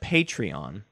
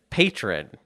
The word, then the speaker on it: Patreon: I called it Patreon because that's how it's pronounced. Yeah, but you said patron.